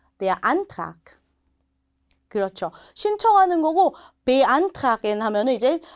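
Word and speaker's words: beantragen: 쓸 수 있는 동사입니다 자 베로 시작하니까 강세가 들어가지 않고요 그래서 아예 강세가 들어가죠 안이라고 읽으시면 니다 한번 음해 볼까요 베안 다시 한번 안 자 독일 대학 준비하시는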